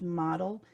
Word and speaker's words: Modl: a model system and it's modl but pronounced model and i think it's